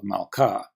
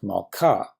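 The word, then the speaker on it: מַלְכָּה: If the syllable has the accent, well, duh, we call it the accented syllable, like meh of melek, var of davar, or ka of malka.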